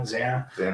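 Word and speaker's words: Xana: Oh, and then did did you know was it Zana? Is that how you say her name? Or Zena? Zanna.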